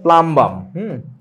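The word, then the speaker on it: plumbum: তোমাদেরকে বলছি কিনা পুল কিন্তু কই না এটার উচ্চারণটা হচ্ছে প্লামবাম ওকে এখন দেখেন এই সবগুলো মৌলের আমি হাইড্রাইড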